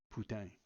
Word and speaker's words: Putin: although for my part I prefer the French pronunciation of Putin putang the original discussion of